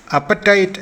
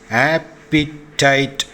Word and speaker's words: appetite: പൊതുവെ അപ്പറ്റൈറ്റ് എന്നാണ് ഈ വാക്ക് ഉച്ചരിച്ച് കേട്ടിട്ടുള്ളത്. എന്നാൽ ഉച്ചരിക്കേണ്ടത് ആപ്പിറ്റൈറ്റ് എന്നാണ്. ആപ്പിറ്റൈറ്റ്.